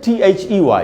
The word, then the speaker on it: they: दे बिल्कुल गलत उच्चारण है दोस्तों, दे नहीं होगा। आप देखिए आपके सामने ट्रांसक्रिप्शन लिखा हुआ है, इसको हम पढ़ेंगे they। तो ये डेल्टा है, इससे द बनता है, और ये जो